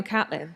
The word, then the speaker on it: Caitlin: But particularly, is it Caitlin or Catlin? It's Catlin, but it shouldn't be. I picked it out of a Gilly Cooper novel when I was 13, and I pronounced it incorrectly.